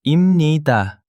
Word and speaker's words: 입니다: Imida is the formal version of pronounced immida. You will hear this in public announcements, news, presentations or formal speech.